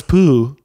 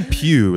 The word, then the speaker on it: Pugh: Yeah, because if I'm like, I don't know, Florence Pugh, I'm probably knowing Florence Wait, Pugh. How do you pronounce that? Florence Pugh. I'm probably. I say pew, like a church pew.